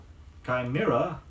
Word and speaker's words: chimera: cherub he looked as innocent as a cherub chimera ch i M II are a is a